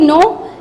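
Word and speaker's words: know: No, there is also no start from the K, but we won't pronounce K. We just say no.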